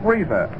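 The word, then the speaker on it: Reiser: Pete Reza, that name is R E I S E R. Reza in center, D Camelly, the home run leader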